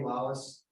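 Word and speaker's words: Lallis: L-A-L-L-I-S, but it's pronounced Lawless.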